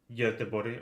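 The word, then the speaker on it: Göteborg: just uh sweden uh yote body or as is the english spell it gothenburg we're staying staying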